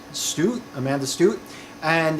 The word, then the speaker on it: Stoot: and I'm going to assume it's pronounced Stoot, S-T-O-O-T. I believe this, so I believe it's going to be a long O sound. Stoot, Amanda Stoot.